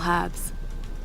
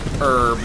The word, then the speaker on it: herb: used for preparing medicinal herbs. There are small bone fragments in the mortar well. Hopefully animal bones. I'm still standing by the firm point that it's pronounced herb, not herb.